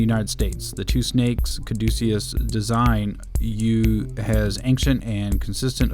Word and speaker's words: caduceus: it up on the Wikipedia and it is pronounced the caduceus and this is from the first paragraph on